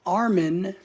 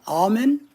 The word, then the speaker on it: Almin: No, not Armin. All right, Almin.